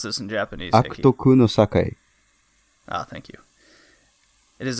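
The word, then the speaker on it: 悪徳の栄え: How do you pronounce this in Japanese? Akutoku no Sakai.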